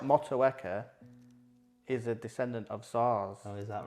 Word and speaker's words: Saaz: Not SARS, the disease. No, that's. Am I pronouncing it right? SAAZ. No, SAAZ. Yeah, SAAZ. It's SAAZ. S-A-R-S, isn't it? SAAZ. Yes. SAAZ help. No, it's S-A-A-Z.